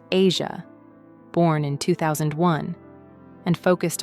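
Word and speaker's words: Eja: She became a devoted mother to her son EA, pronounced Asia, born in 2001, and focused on creating a stable family life.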